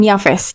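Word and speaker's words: Yafes: ingat siapa aja ada Sam HAM dan yaves itu pelafalan bahasa Turkinya yang bahasa Indonesianya kurang lebih hampir sama sih pelafalannya sebenarnya di mana keturunan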